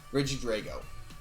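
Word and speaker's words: Regidrago: then also have uh reggie drogo reggie drago hold on let me make sure i pronounce that right reggie drago is how they're pronouncing it officially um it is pure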